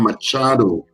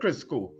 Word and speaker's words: Machado: Nobel Peace Prize 2025, Venezuela's Maria Corina Machado wins. She was going up as the opposition. Right. I believe. So Erica is Erica just got the last name wrong. She said Crisco. So it's Machado.